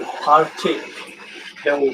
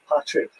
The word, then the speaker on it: Partickhill: Welcome to Partickhill Station. It's funny, most people pronounce the name of my station Patrick, and they think I'm Patrick. I've had to remind many of them that I'm not Irish.